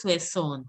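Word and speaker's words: soixante: It is not Soissons, it is Soissons. Soissons. Yes. Tab codes, can you pronounce Soissons?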